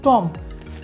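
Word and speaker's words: tomb: পর্যন্ত থাকবে এখানে দেখুন টম টম পর্যন্ত থাকবে টম মানে হচ্ছে কি সমাধি বা কবর প্রিয় শিক্ষার্থীরা নিশ্চয়ই এখানে বুঝতে পারলাম যে এম এর পরে কোনো বি থাকলে বিয়ের উচ্চারণ হবে না এ পর্যায়ে চলে আসি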